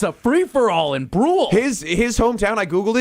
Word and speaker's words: Brule: It's pronounced Brew.